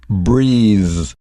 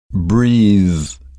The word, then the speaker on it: breathe: now listen carefully because the noun and the verb are pronounced quite differently the noun is breath breaths but the verb is breathe breathe so practice that a bit